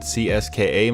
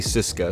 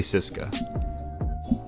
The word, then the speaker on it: CSKA: of people pronounced at CSKA Moscow but if you listen to actual Russians say it they just say Cisco so I'm gonna say Cisco here Andrei blossomed into